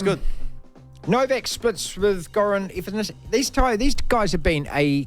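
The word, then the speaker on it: Ivanišević: Ivanisevic.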